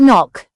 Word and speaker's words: knock: KN makes the n sound with a silent k at the beginning of words. It is used in words like knife, knee and knock.